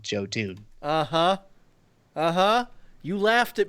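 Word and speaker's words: Jotun: and they were they were talking about yotan obviously call it jotoon so that people like hear that and that's what cuz you know you see it's like oh I don't wanna spell that but you say jotoon and they can find the game so the developers themselves actually tell people at trade shows it's called jotoon uh-huh uh-huh you laughed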